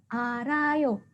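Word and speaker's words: 알아요: Ya, dibaca apa? Bacanya adalah arayo.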